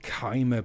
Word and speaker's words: Chimer: Pronounced Chimer, but I think they missed a trick there by not having it pronounced as Shimmer, because that just sounds so much cooler.